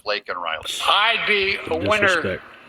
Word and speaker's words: Laken Riley: says her name and he calls her Lincoln Riley instead of lak Riley I'd be a winner